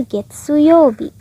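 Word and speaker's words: 月曜日: Oke, jadi hati-hati ya, kanji ini bisa dibaca gatsu, bisa juga getsu. Jadi dihafalin aja kosakatanya. Dia katamu kanji 4 dibacanya jadi gatsu, shigatsu. Tapi kalau katamu kanji hari, yobi, dia dibacanya getsu, getsu yobi, Senin.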